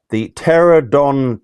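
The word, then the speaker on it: Pteranodon: Neanderthal lair, the Pterodon terra. Don't pronounce the P.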